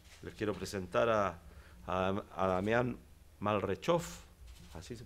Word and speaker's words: Malrechauffe: Les quiero presentar a Damián Malrechov, así se pronuncia, para que todos sepan. Malrechofé, ¿ah? Damián Malrechofé.